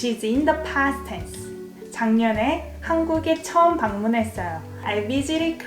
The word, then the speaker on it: 작년에: So G sounds more like NG. 작년에. 작년에 에 is time particle.